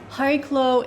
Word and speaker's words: Chariklo: (That’s the pronunciation we’re going with. Think of it like the “Ch” you see in “Chanukah”) Chariklo is the largest of